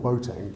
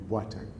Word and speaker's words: Boateng: fact, he's called Boateng, but in Ghana it would be Boateng. But it was like Paul Boateng is now Lord Boateng. So, and there's a kind of acceptance. Well, that's the way that it's pronounced over here.